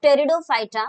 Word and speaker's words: Pteridophyta: Kids, it's Pteridophyta, where P is silent.